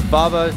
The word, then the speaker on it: Vava: We have a sponsor, which is Vava. Is that how you say it? That's right. Vava Dashcam.